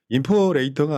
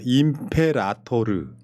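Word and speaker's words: imperator: 인포레이터가 아니라 임페라토르. 임페라토르. 영어가 아닌 라틴어로 아.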